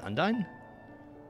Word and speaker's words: Undyne: Miss Undyne. Oh, that's how you say it? Undyne?